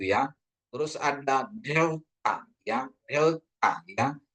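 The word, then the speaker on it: δέλτα: Terus ada delta ya, delta ya. Dia lebih ke TH ya, D, T ya. Jadi pengucapannya delta gitu. Lidah kita itu di antara gigi ya.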